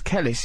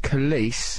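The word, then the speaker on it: Kelis: You But you think it's definitely pronounced Khis. It's police like police, isn't it? Police. Police. So, if you That's a handy tip to remember police. It rhymes with police.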